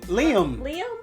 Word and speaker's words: Liam: Liam. I said Liam. Liam. Not Lamb.